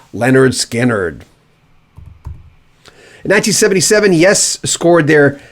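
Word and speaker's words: Lynyrd Skynyrd: debut album remember that simply titled pronounce leonard skinnard in 1977 yes scored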